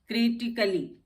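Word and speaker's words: critically: ए silent इन words ending ICALLY। जहां पे भी ICALLY से वर्ड एंड होता है वहां पे ए साइलेंट होता है। जैसे लॉजिकली, क्रिटिकली। अब यहाँ पे लॉजिकली या लॉजिकली क्रिटिकली नहीं बोलते हैं, लॉजिकली क्रिटिकली।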